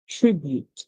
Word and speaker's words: tribute: The U again makes it sound like you, the long sound. So we get trib, you, tribute. The N is silent. Remember when E's at the end silent, a lot of times the vowel that comes before would call its name.